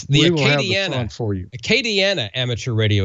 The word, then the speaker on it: Acadiana: It's the Acadiana for you. Acadiana Amateur Radio Association. Arcadiana, okay.